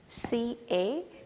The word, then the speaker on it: caught: The word called caught, C-A-U-G-H-T. So this has to be pronounced as caught.